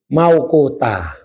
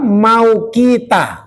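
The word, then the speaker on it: مَوْقُوتًا: kitaban maukutah ya. Salat itu ada ketentuan dan ketetapannya ya. Sudah ditentukan. Jangan salah bacanya belakang itu kitabam maukita. Nah itu jangan.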